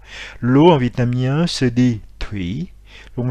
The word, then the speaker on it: Thủy: L'eau en vietnamien se dit Thủy, donc le TH se prononce comme un T aspiré, donc T, donc Thủy.